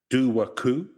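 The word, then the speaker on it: Dobhar-Chú: And we're looking at the Doo-war Coo, which isn't spelt like that. It's spelt Dobhar-Chu. Yeah, Gallic is an interesting.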